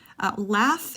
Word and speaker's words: laugh: no vocal cord friction laugh ends in gh but it's pronounced with the F sound less so we would